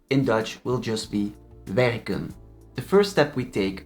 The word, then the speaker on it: werken: Werken becomes werk. Werken is a short vowel infinitive. The E is pronounced short in both the infinitive verb and the stem.